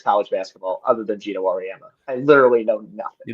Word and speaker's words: Auriemma: How do you pronounce it? Gino Auriemma.